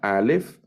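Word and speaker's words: א: refiere a Dios Entonces la alef que es muda la bet que es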